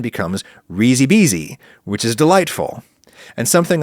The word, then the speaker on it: risi e bisi: If you elide the E sound at the end of risi into the word E that precedes bisi, then the pronunciation becomes risi bisi, which is delightful.